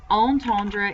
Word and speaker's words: entendre: Entendre is 39. What does that mean? To hear. So you hear the bell, that's entendre with a like on sound at the beginning.